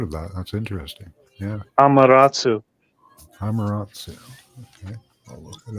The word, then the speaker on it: Amaterasu: Yeah, the Amaratu, that sounds familiar, but it sounds like you're trying to say Amarayu. Is that Amarayu? Is that how they pronounce it? Sun goddess in Shinto. It is Amaterasu.